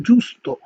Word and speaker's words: giusto: ওকে, জি ই এবং উ যদি একসাথে থাকে তাহলে উচ্চারণটা হবে উ এর মতো, যেমন হচ্ছে জুস্ত, জুস্ত মানে হচ্ছে সঠিক, হ্যাঁ, জুস্ত মানে হচ্ছে সঠিক।